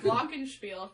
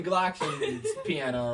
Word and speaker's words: glockenspiel: And I don't call it the Glocken piano or whatever you guys call that shit. It's a glockenspiel. I didn't name it.